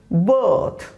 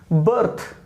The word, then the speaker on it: bird: now it is bird it is bird it's pronunciation now they see indian and pakistani speakers and african speakers call it birth but now it's pronunciation is bird but how we will